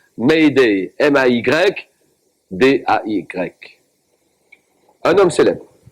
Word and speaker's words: Mayday: Message de détresse, tiré du verbe français aider, prononcé phonétiquement par les anglophones, Mayday, M-A-Y, D-A-Y.